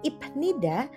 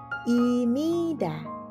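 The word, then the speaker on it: 입니다: berbunyi miem Oke sehingga dibacanya bukan ibnida tetapi dibacanya menjadi imida kalau itu tadi cara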